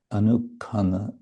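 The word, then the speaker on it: अनुक्षण: mrityu dukkha, Krishna ālīlā-rasa anukshana in Sanskrit, anukkana or anukon in Bengali pronunciation.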